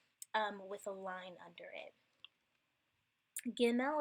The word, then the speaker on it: Gimel: Gimel is the same way. With the dot, it has that hard G sound. Both of these are actually going to have the G sound like girl.